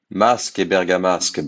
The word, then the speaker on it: Masque et bergamasque: these pieces, so credit to Edward Servan-Schreiber for pronouncing these pieces correctly for us. Masque et bergamasque by Fauré.